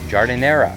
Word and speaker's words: giardiniera: This is, I hope I'm pronouncing this right, Giardiniera.